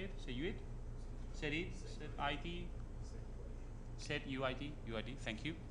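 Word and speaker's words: setuid: how you say it so you it city set UID UID thank you said UID comment in the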